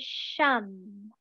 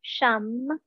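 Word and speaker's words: sham: quieting the nervous system and that word is shum it's spelled s-h-a-m but pronounced more like a soft you shum so inhale softly into the belly exhale shum in your mind it's a mantra given by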